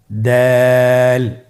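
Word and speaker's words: دال: দাল হরফটি বারিক হরফ। এই হরফটি উচ্চারণ করার সময় আমরা অবশ্যই 3 আলিফ টেনে পড়ব। দাল, আমার সাথে আবার বলুন, দাল।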